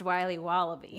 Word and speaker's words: Wiley Wallaby: Wiley's wallabies wallaby Wally's will be Waba bees pronounced Wiley wallaby well it's very good it's called Wiley wallaby